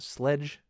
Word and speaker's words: Slecg: A word SLECG is pronounced sledge.